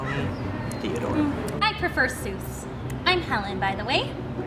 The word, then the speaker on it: Seuss: I mean it really Zeus is it I can see how you deduce that it's pronounced Seuss but when using your voice you would say it soy but grammar's aore and